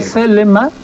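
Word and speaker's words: θέλημα: Telema que tú dices es telema en griego, celema.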